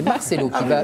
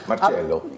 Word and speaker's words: Marcelo: je Ah, mais c'est Marcelo qui va nous en parler parce que. Marcello. Non, Marcelo, argentin. Donc là, vous prononcez à l'italienne, mais c'est pas grave.